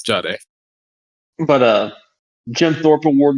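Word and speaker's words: Jahdae: Um, the Broncos took uh Jiard Baron. Jiade Jiad Baron. I don't know how you pronounce his name. Oh, it's Jade.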